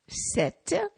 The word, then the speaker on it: Sète: you go so today set set set is pronounced like the article set it means a sh TI te and guess